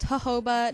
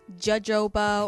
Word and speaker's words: jojoba: oils the first one I am using is jojoba oil and yes it is pronounced jojoba not judge oboe or Jehovah or anything else you can look it up